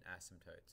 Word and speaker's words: asymptotes: That's a silent P in asymptotes, in case you were wondering.